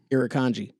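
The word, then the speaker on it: Irukandji: jellyfish is considered the most venomous marine animal irikanji that's how it's pronounced just so you know also that's not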